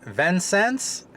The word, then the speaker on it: Vincennes: the heck are the Albans we are in Venn sense Indiana I said it right and we are